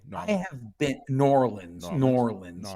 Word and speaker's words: New Orleans: have been New Orleans norleans you have to say it like nor Orleans yeah I have been